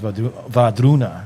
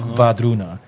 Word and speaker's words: Wardruna: And like when I listen to those songs, Vadruna, that's how you say it. So the W, Va. It looks like it's spelled Wardruna. It's Vadruna. W becomes V, yeah.